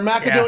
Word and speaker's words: McAdoo: the way it's pronounced, little C, big A, you know, that is kind of the Scottish accent way pronounced. It's not Mick, like others would say, because it's a vowel immediately after, or a capital letter immediately after.